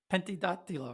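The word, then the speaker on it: Pentedattilo: to uh is it pendiatillo am i saying it right pentida penti dot dealer right yeah because penta like five and attila fingers uh so it means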